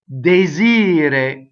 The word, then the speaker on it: desir: So the accent is on the E. So the ire, right, is the stress. Ire, desire. So the E is closed going into that, right? And rolled R at the end if you're going to truncate the E. So desir.